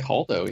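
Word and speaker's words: Holdo: How do you pronounce it? Haldo? Haldo? I think Haldo, yeah.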